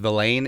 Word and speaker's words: Vilain: as well as Luiji Vilain coming out of Wake Forest. Now, it's spelled Villain, but it's pronounced Vilain.